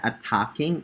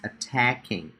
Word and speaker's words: attacking: It's not attacking, it's attacking. Attacking. One more time. Emphasize the second syllable.